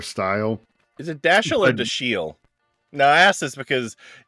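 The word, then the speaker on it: Dashiell: So I have a I have a master's degree in English and it was pronounced Dashel when I was in college.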